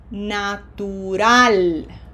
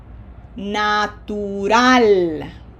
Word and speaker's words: natural: We are going to pronounce this word using the rules that we have learned for Spanish correct Spanish pronunci- pronun- pronunciation. Okay? This is APE1. natural natural Okay.